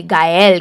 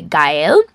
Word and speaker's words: Gaelle: It's actually, the pronunciation is actually Gaelle, guys. It was my bad pronunciation in the beginning. I said Gaelle before, but it's actually Gaelle.